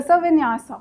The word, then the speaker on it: Vinyasa: Now, you have mentioned as one of your extracurricular activities, what is Vinyas Yoga? Yes, sir. What is it? How is it pronounced? Sir, Vinyasa.